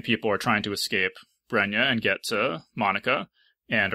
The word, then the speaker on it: Bregna: at one point, but Bregna, yeah, it's like the Italian pronunciation. Bregna. So I was going to go with Bregna, but if people vote Bregna, I can. I think it's Bregna.